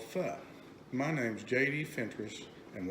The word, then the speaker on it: pho: But a good friend of mine from high school came up with Pho, which is spelled P-H-O, but it's pronounced F-U-H.